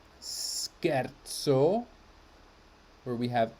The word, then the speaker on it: scherzo: because of the h scherzo where we have sc h which turns this into a k if it were just s c e we would have shea as in shame but we have scherzo rule here bruschetta often